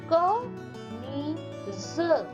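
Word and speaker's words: कमीज़: कमीज, ज क्या होता है? ज के नीचे जब नुक्ता लग जाता है, बिंदु लग जाता है, तो ज का उच्चारण हो जाता है ज।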